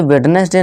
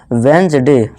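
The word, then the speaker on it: Wednesday: नहीं budget gadget fridge इसे वेडनेसडे नहीं पढ़ते आज के बाद इसे क्या पढ़ना दोस्तों वेंज डे वेंज डे ठीक है दोस्तों डी हमारा साइलेंट है वेंज डे अब है हमारा ई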